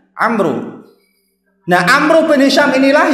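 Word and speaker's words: عمرو: Kalau ada huruf alif belakangnya, membacanya Umar. Kalau enggak ada alifnya, dibacanya Amru.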